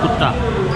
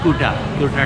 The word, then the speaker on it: Kuta: लोग हम लोग जैसा हमारे लफ्ज़ है कुत्ता, बिल्कुल डिफरेंट है, ये है कुटा टाइप का, इससे थोड़ा डिफरेंस वो है मतलब प्रोनाउंसिएशन।